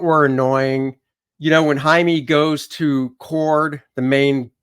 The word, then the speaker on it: Jaime: stupid no name tag he literally says Jaime and she says Jamie and then he says